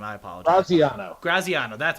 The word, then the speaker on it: Graziano: So ESPN's Dan Graziano, I can't pronounce his name. I apologize. Graziano, that's how it is.